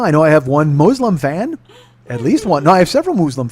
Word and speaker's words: Muslim: it is now I know I have one Muslim fan at least one I have several Muslim